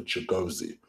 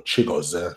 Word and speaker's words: Chigozie: will already know that Chig is actually short for Chigozie or Chigozie, if you're going to put a bit of a Nigerian twang on the way you pronounce it.